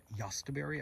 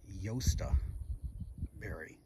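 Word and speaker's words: jostaberry: that we missed this i had originally called yastaberry i was saying it wrong it's yosta berry i've been corrected by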